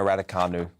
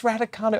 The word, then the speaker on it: Raducanu: I'm going to go with Emma Raducanu. Because what an incredible... No, it's Raducanu.